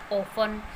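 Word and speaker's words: often: ई और एन हो, तो वर्ड के लास्ट में जब भी ई एन होता है और ई एन से पहले हमारे पास टी है तो वो टी वहाँ पर साइलेंट हो जाता है। For example listen, ऑफन। तो आप यहाँ देख सकते हैं कि वर्ड के लास्ट में ई एन है और ई एन से पहले टी है जो कि यहाँ पर साइलेंट लेटर है।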